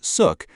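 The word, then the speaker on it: Xuc: Born in the 1940s, the name Shook, pronounced Suk, comes from the quirky shukshook sound made by the clarinet in traditional folk music.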